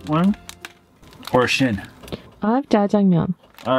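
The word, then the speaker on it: 짜장면: I have jajangmyeon.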